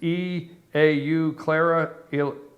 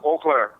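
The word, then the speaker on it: Eau Claire: is coming to Wisconsin tomorrow and I can't pronounce the name it's e Au Clara what what is what is the name huh o Clair yeah oair oair right that's e a u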